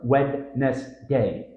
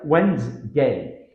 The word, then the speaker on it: Wednesday: D and the NES sound disappear common error wedness day tip say it like Wednesday without stressing the middle letters Den Deni which